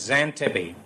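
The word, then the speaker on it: Xanthippe: answer you've decided upon it's not Portia no it's Santa P then it smells XA MTI PPE and why is pronounce an tippy I'll never know I'm sorry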